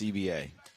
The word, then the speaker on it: CBA: yesterday up the snake it is confirmed that it is pronounced CBA I spoke to him yesterday and uh CBA CBA yep collective bargaining agreement he said that's what